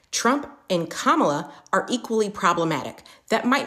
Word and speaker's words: Kamala: insinuated that Trump and Kamala which by the way is how you pronounce her name Trump and kamla are equally problematic that